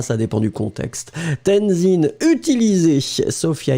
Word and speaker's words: utiliser: Be careful, Lynn, because utiliser is not with Z, but with S.